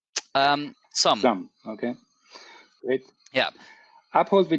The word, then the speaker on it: Xumm: One very important: how do you pronounce XUMM? Did I do it right? XUMM.